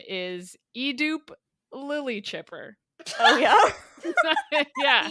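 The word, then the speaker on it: Edoop: My name is Edupe Lily Chipper. Oh, yeah? Yeah. Edupe? It might be a dupe.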